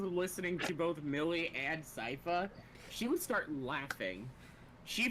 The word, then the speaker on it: Sypha: Every time that I've just been hearing the word Sypha, she's just been going Syphy. Syphy.